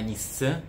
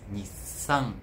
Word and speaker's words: Nissan: vai aasal ses entende não é Nissan mas Nissan Nissan Nissan o som de um ocupa o mesmo espaço de uma sílaba então s é uma sílaba perfeito é uma característica